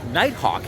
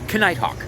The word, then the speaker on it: Nighthawk: already and I apologize it is Nighthawk and not kite Hawk I making an effort